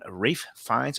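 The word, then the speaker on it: Ralph Fiennes: and you know starring Rafe finds and that brings me the question so you know it's spelled Ralph but how do you get Rafe from Ralph I mean they'll be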